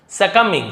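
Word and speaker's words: succumbing: अब यहां पे देखिए एक और आपको नया वर्ड मिला हुआ है सकमिंग है ना इसे सकमिंग कहा जाता है बी साइलेंट होता है सकमिंग सकमिंग का मतलब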